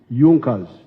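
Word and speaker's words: Junker: However, there was a strong business group in Prussia known as Junas. It is written junkas but they pronounced pronounce it junas that saw the importance of a united German market.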